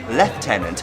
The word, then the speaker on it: lieutenant: once and for all the Americans say lieutenant the British say leftenant but the Irish say lieutenant and that's where this play set okay so the